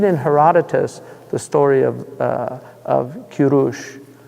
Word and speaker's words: Kurush: I mean, if you read the story if you read in Herodotus the story of Kurush, Cyrus.